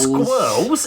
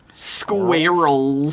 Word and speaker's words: squirrels: It's not squirrels. It's got 2 syllables. Squirrels.